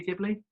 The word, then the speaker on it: Ghibli: Studio Ghibli?